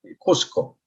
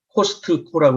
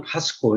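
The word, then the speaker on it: Costco: 지금 이 사진은 이 미국의 이 샘스 클럽이라든지 코스코, 우리 한국 사람들 이제 코스트코라고 그러는데, 근데 트 발음은 원래 묵음입니다. 나이프를 크나이프라고 안 하는 것처럼 이제 코스코 또는 카스코 이래야 되는데, 언론에서든지 어디서든지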